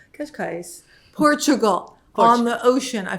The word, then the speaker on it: Cascais: Somebody pronounce it, please. Cascais. Cascais, Portugal, on the ocean.